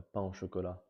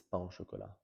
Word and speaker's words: pain au chocolat: French stuff like the we call it a pain au chocolat. I think you guys call it a croissant au chocolat, but it's pain au chocolat.